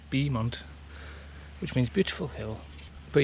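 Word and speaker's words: Beaumont: It's actually pronounced Bemont which means beautiful hill.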